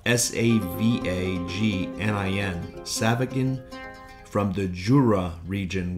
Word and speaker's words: Savagnin: It's an offspring of the white wine grape, which is spelled S-A-V-A-G-N-I-N, Savagnin, from the Jura region, which is spelled